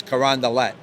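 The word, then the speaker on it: Carondelet: called karand de because everything's French right it's karand DEET but he's he's from Lafayette interesting well yeah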